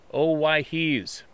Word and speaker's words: Owyhee: While baling hay in the Owyhees, pronounced Owyhees, I had 3 very bright lights fly over me in a triangle formation, 1 in front, 2 behind.